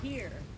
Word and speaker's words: Pierre: God bless you, This is Pierre.